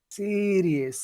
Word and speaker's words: serious: The other the other two syllables aren't heard very clearly. It's just the first syllable that's very important.